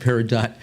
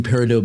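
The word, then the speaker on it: peridot: Uh, lime green parido beads or paridot. You say paradot, I say tomato.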